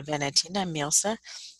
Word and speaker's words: Valentina Mirza: Est-ce que je prononce mal votre nom? Non, pas du tout. Je m'appelle Valentina Mirza.